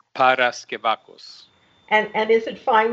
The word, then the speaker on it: Paraskevakos: least has heard it correctly no problem it's Paras kakos and and is it fine with you if